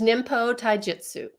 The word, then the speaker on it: Ninpo Taijutsu: I think you did a heck of a good job, but it's Ninpo Taijutsu.